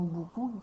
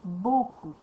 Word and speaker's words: beaucoup: c'est pas beaucoup souvent il y a des gens qui prononcent pas bien le mot bcoup qui vont dire bcoup au lieu de dire beaucoup donc il faudrait pas